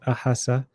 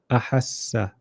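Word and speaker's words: أحسّ: So you not ahasa. We want both. We want two letters. Ahassa, ahassa.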